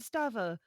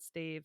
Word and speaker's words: Stave: So I keep saying it's a crooked stava but it's not a stava because that's not a thing. It's a crooked stave.